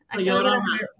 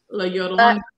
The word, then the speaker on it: La Llorona: La Llorona. La Llorona.